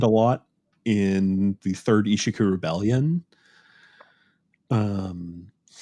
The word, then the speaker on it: Ishiku: um taking command a lot in the third Ishiku Rebellion. Um, the third uh, how do you spell that word?